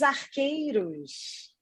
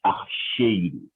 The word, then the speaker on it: archeiro: Então esse aqui é o tal do Pátio dos Arqueiros. É archeiro. Mas se pronuncia arqueiro. O correto é falar como era antigamente, archeiro.